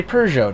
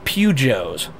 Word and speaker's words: Peugeot: that a lot easier so i can say peugeot now okay that makes sense there we go okay awesome i'm saying it right now uh that's uh see my dad calls them pugios because that's the way he thinks it's said so i heard that